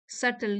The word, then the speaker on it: subtle: सल यहां B silent है।